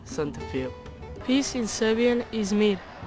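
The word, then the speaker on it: សន្តិភាព: This is peace in Khmer. It is pronounced Santafil.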